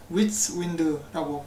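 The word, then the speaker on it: WietseWind: 개발자인 위츠윈드라고 발음을 한다고 합니다. 자기가 이렇게 얘기를 했어요.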